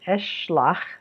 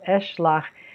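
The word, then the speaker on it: אֶשְׁלַח: that in the Pa'al, I will send is Eshlach, that's two syllables. Eshlach, this is Ashalach, it's got three syllables.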